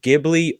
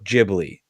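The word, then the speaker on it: Ghibli: Um it can actually be pronounced Gibli or Jibli. Either way is actually correct because it's a weird translation.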